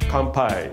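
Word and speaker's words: kanpai: Compai.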